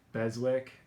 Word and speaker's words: Beswick: how do you say your last name beswick beswick okay cool rhett beswick he's a sales manager